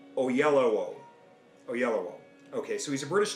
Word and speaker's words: Oyelowo: How do you pronounce that last name? Oyelowo.